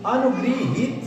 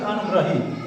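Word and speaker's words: अनुगृहीत: अनुगृहित शब्द होता है, अनुगृहित, इसलिए यह सही हो जाएगा, न कि अनुग्रहित, ये गलत है, अनुग्रहित पढ़ेंगे इसमें, ये रंग गलत है।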